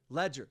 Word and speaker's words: Ledyard: It says Ledyard, but he says like Ledger. That's what he says. He sounds like he's saying ledger, but it's spelled Ledyard.